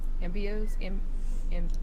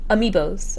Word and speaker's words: amiibo: Ambios? Amiibos. Amiibos? Yes, amiibos. Sure.